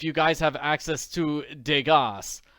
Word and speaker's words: Degas: I just wanted you to know if you guys have access to Degas, spelled like it rhymes with Vegas.